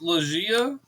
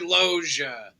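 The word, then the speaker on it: Loggia: went with Robert and I think it's loia is that's how it's pronounced Robert loer Loa Loa loia haven't haven't you seen F Haven you seen family gu no my name is Robert loia let me spell it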